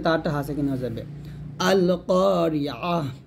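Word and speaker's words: القارعة: আছে, এখানে থামলে হবে আল কারিআহ, এতে তারটা হাসে কিনা হয়ে যাবে আল কারিআহ। এখানে আমরা অনেকে আইনটাকে ইয়া উচ্চারণ করি, এটা করা যাবে না, ভুলটা সুন্দর করে বলেন আল কারিআহ।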